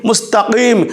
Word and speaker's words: মুস্তাকিম: ওযে পরে যেটা আছে দুটো নুক্তা আছে এটা মুস্তাকিম যেমন যেমন আমরা বলি কহুল্লাহু আহাদ আমরা কফের উচ্চারণ করি দর্শক কফ এবং কাফ এ পার্থক্য